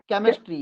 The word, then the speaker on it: chemistry: केमिस्ट्री। केमिस्ट्री।